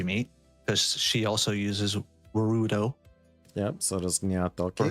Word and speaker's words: Warudo: Okay, so you use Warudo to, or Warudo, however you want to say it. I'm not the expert. I'm actually the worst. No, you actually said it right.